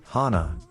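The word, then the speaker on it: 鼻: the word for nose Hana is pronounced the same as the word for flower Hana thus according to the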